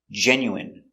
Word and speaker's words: genuine: jasmine tea very good so remember these special words ending with i n e we pronounce them all the same in in remember medicine margarine intestine or intestines more than one genuine famine remember it's countable